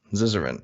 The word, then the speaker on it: Zizaran: How is it pronounced, by the way? Zizaran. Zizaran.